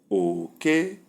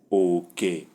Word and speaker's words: oke: and the pronunciation is okay, rat, okay. Number 2, we have low, low, and the sound is okay, portion, okay. Number 3, we have high and flat, and the pronunciation is okay, boundary, okay.